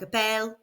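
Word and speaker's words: appellent: So we add ent to the end, which is silent, so it still sounds like appelle.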